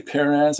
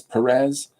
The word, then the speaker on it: Perez: par perz I say perz I know it's Perez that's pronounced you know by you guys but I say perz because my wife and I watched a series called Shetland you know and the